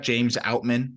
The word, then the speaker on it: James Outman: by the way Jack James outman did I pronounce that right yeah no you're good arum thanks for checking